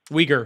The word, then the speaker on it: Uyghur: Uyghur. The Sorry. Uyghur. I always pronounce it wrong. No, Uyghur.